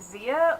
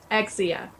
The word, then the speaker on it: Xia: proper all right so is it Zia or is it exia exia exia oh wow that's the way I that's the way I pronounced it but many many people say Z rose with Z wow okay so I